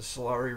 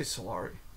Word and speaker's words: Solari: She's currently the publisher of the Solari Report. I say Solari, she calls it the Solari Report.